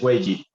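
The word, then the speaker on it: 危机: Tiene dos vocablos, este que se llama wei y ese que se llama ji. Crisis en chino es wei ji, ¿cierto?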